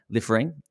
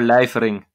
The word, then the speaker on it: Lijfering: king of vintage welcome to ot podcast jasper liffering from amsterdam vintage watches a little shop in